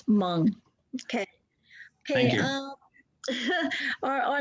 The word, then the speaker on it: Hmong: Williams, Hmong, the H is silent. Hmong. Hmong, so it's Hmong.